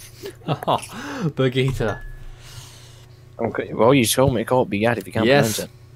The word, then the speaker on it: Berguitta: And here is Bugatti. Oh, Berguitta. Okay, well, you told me to call it Bugatti if you can't pronounce it.